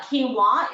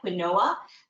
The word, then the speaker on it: quinoa: bread and you will see a difference uh quinoa is a is a South American super grain looks like quinoa but it it's pronounced quinoa and it's got six grams of